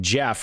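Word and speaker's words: Geoff: It's like Jeff and it's spelled G E O F.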